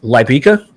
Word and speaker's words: Lybica: you have this new, and I might be pronouncing it incorrectly. Is it Lybica?